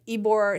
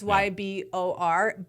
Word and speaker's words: Ybor: But within Tampa, we were in Ybor City, which is a really hip, cool city, which I'm going to talk about. It's called Ybor City. It's a neighborhood in Tampa. It's Ybor, right? Yes, it's Ybor, but you pronounce it Ybor.